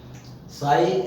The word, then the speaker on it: sigh: साई, SIGH, GH silent रहा, साई माने हाँ वरना।